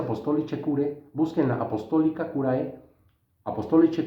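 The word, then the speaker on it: Apostolicae Curae: León XIII, en su documento, en su bula Apostolica Curae, se pronuncia Apostolice Curae, busquen la Apostolica Curae,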